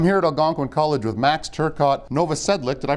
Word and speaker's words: Max Turcotte-Novosedlik: I'm here at Algonquin College with max Turcotte Nova Sedlec did I pronounce that right you did yes now you're